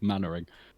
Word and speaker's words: Mannering: That's how you say it, Mannering. Oh, like Captain God.